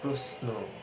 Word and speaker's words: প্রশ্ন: যখন বলা হয় প্রশ্ন, তখন সেটা দন্ত স এর মতো উচ্চারিত হয়।